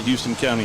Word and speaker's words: Houston: what do you mean it's not Houston County it's it's spelled like Houston so it's housed in it's Houston it's Houston County yeah yeah I well